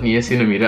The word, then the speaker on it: niacinamide: I call it niacinamide, I spray it out the, spray it out. I pronounce it the Dutch way, but I think, it's very slimy.